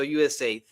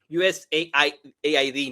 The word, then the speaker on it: USAID: utilizó USAID, por cierto, así es como se pronuncia. Yo no sé por qué incluso esta periodista le llama USA AID, no no es USA, o sea, la idea de del acrónimo es USA, ¿no?